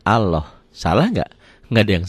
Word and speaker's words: Allah: ada tarkik tipis nih lafaz Allah dibaca tafkhim tebal berbunyi Allah jadi kalau mengungkapan ini seperti ada w-nya ya Ini juga bukan seperti ini ini kan dibacanya Allah salah enggak enggak ada